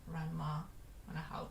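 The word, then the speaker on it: らんま½: Ranma and a half, depending on how you say it. Ranma Nibun no Ichi.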